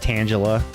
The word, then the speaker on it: Tangela: Tangela. And yes, it's pronounced Tangela, like Angela, but with a T in front of it.